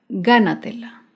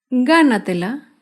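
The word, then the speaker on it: gánatela: sílaba fácilmente por último un ejemplo con la palabra gana tela ghana tela se acentúa en la sílaba anterior a la antepenúltima sílaba ghana tela y algunos ejemplos de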